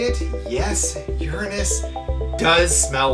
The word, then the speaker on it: Uranus: Then there's Uranus, and yes, I'm pronouncing it Uranus.